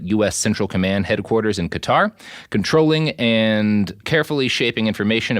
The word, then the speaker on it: Qatar: Also I I mispronounced cutter. I was hoping no one would notice but my conscience caught up with me. So, the two people in Qatar who are uh listening to this, I'm sorry I pronounced your country's name wrong.